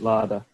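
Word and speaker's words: Lada: In the old cars, and he had 3 laders or laders. Is it pronounced lader or larder? They used to have a lot of ladders in. I pronounce it larder.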